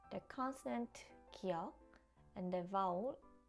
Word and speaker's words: 기역: This is 기역 and is pronounced 그. This sounds similar to the first consonant in good.